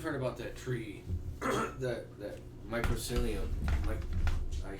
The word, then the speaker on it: mycelium: What if, like, because you've heard about that tree, that mycelium, I say it wrong.